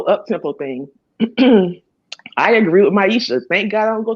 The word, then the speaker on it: Misha: I love that you call her Maisha. Her name is Misha. That's why she disliked the video, because I just don't know how to say her name properly.